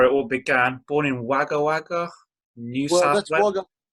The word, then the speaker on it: Wagga Wagga: Born in Wagga Wagga, New Well, South that's Wales.